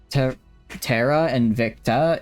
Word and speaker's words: Terra Invicta: Terara and Victa is the pronunciation. Terara. Okay. Terara and Victa.